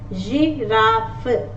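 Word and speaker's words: girafe: So in this case, letter G is pronounced as J. Orange, orange. Giraffe, giraffe, as opposed to a hard G, that is garden. In English we say garden, right? Grass, here it is J, J, orange, giraffe.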